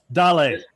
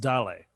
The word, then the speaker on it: Dale: out of austin dale daley what dolly daley it looks like dale it is but it's pronounced daley daley all right from